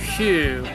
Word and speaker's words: Huyghe: Brewery Hugh. It's Huyghe.